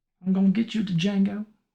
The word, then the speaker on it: Django: I'm gonna get you to Django. D is Silent Hillbilly.